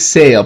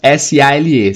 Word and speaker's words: sale: S-A-L-E. Sale é venda, né? Reparem na pronúncia, não é sale, tá? É sale. Geralmente palavras que terminam com L-E, a última pronúncia vai ser do L.